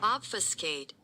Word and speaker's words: obfuscate: Obfuscate. Obfuscate. Obfuscate. The B is silent. Obfuscate. Obfuscate. Obfuscate. Yeah. Obfuscate. Not obfuscate, but obfuscate.